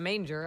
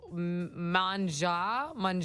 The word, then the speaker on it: Manger: I'm like, Preda Manger. I don't know. That's how it's spelled. I went the phonetic route. Someone said it's manja. It's French.